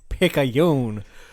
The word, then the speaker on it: Picayune: It's Picayune. To me? Yeah, to you, sir. Why me? You pronounce that paper right, son, right now.